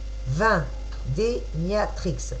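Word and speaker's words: Vindemiatrix: Vendémiatrix. Viens des Matrix. Viens des Miatrix. Voilà, il faut que j'arrive à distinguer les syllabes. Viens des. Donc, viens ici. Miatrix.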